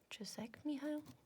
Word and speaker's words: Csikszentmihalyi: has a cool name that I can't pronounce, but it's something like Mikhail Csikszentmihalyi. Csikszentmihalyi. I can't pronounce it because I grew up in the UK and we do not value other languages appropriately. And so I only have 1.5 languages to my brain.